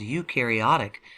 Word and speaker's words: eukaryotic: structures and a nucleus you meaning true Carrio meaning nucleus so eukaryotic means true nucleus you can remember it because you rhymes with true or new you're going to have